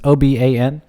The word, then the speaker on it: Oban: my favorite scotch is the it's i apparently pronounced oben it's oban the 14 year i think it's super super